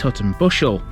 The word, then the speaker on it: Hutton Buscel: next parish along the route into town is Hutton Buscel. The main settlement here is the village of the same name, and it's a way away from the main road. Hutton Buscel sits peacefully on a hillside with grand views